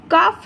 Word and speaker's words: cough: কাফ syrup, COUGH, কাফ। GHটা সাধারণত ঘ উচ্চারণ হয়, কিন্তু এখানে ফ উচ্চারণ হবে, COUGH, কাফ।